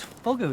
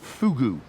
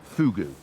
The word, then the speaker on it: Fougou: is Joe whose garden it is whose whose fogger it is no no fugu I know it's spelt fo geo you but it's pronounced fugu it's all to do with the person of